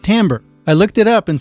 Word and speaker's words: timbre: 4 subscriber jm mentioned in the comments it's pronounced timbre i looked it up and son of a